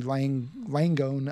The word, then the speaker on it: Langone: And so a team of medical researchers at New York University, Langone, I think is how you pronounce it, Health Center, approached his family and